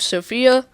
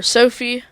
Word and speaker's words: Sofia: started in the capital of Sofia, or Sophie. There's a lot of different pronunciations, but they will be making their way towards the Black Sea.